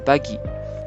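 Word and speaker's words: Buggy: Romanisation officielle de l'auteur se prononce Baggy.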